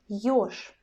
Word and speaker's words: ёж: You see that I pronounce this word very similar. I pronounce sound ch in both situations, and I pronounce sound sh because our zh sound in the end changes to the sh, yes, in both situations.